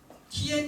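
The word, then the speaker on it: 天: 그럼 요게 이제 성인데 일성 일성은 55로 발음하니 TN 솔 1 2 3 4 5니 솔 정도 높이로 발음하면 TN 이렇게 발하 중국에서 컴퓨터를 치면은 한자를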